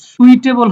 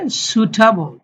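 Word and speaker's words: suitable: এটা হলো সুটেবল। সুইটেবল হবে না, সু লম্বা হবে সুটেবল।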